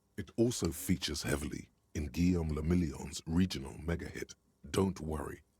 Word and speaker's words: Guillaume Lamillion: Guillaume Lamillion. There we go. There we go, especially with me not talking. If it doesn't rhyme, you're not pronouncing it right.